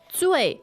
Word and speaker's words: 醉: 醉 fourth tone Yes.